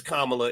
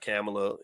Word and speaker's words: Kamala: this okay so yeah it's kamla it's not camela you know let's pronounce her name right why not I mean